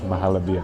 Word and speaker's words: Mahalabia: And I said it wrong a million times, but it's Mahalabia.